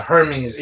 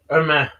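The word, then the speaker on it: Hermès: Hermes. Yeah. And it has an apostrophe over the E. Yeah. And there's like 2 silent letters, so it's pretty fancy.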